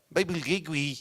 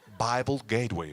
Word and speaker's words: Bible Gateway: Bible Gateway, no. Bible Gateway, please. All right, do you understand? Bible Gateway. ¿Cómo se escribe?